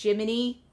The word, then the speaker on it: Gemini: your uh sidekick like the name is written down Gemini but it's pronounced Jiminy uh there's a lot